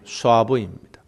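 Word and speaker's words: שָׁוְא: 이 헛되다라는 말이 히브리어로 우리나라 말하고 발음이 비슷해요. 쏴부입니다.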